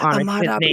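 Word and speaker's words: Ahmaud Arbery: I said his name and I want to give Ahmad Aubrey.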